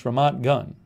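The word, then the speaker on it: Ramat Gan: aviv suburb is pronounced vermont gun reminds rhymes with none thank you jason gould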